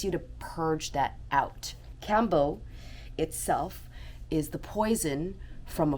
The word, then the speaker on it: Kambo: you about the Cambo experience that I had Cambo which is spelled k a m b o is a